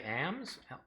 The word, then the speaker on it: alms: charitable giving are alms which i think in britain they mostly say ams arms arms they pronounce the s lesson than i do uh to consider not